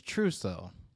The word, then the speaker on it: Truso: world very yeah so my last name for you that don't really know it is truso okay if you switch to syllables around it becomes so true all right so one